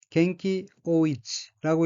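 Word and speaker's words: 元気横溢: 다음 어휘는 한자가 한국어로 원기횡일이고 각기 으뜸원, 기운기, 가로횡, 넘칠 일자이고 일본어로는 겐키 오이치라고 읽으며 겐키 오이치는 원기, 왕성함이란 뜻의 명사입니다.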